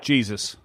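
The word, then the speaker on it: Jesús: Is it Jesus or Jesus that you had on? Yeah, he pronounces it Jesus.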